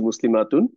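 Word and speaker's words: مسلمة: comment একটু জানান তো মুসলিমাতুন যখন হচ্ছে ওয়াকফ করি তখন আপনারা কি বলবেন পুরাটা বলেন হ্যা মুসলিমা বলবেন মাশাল্লাহ অনেকেই লিখতেছেন এক্সাক্টলি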